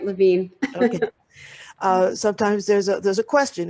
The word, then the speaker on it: Levine: And Terri, I forgot to ask you, do you pronounce your name Levine or Levine? You said it right, Levine.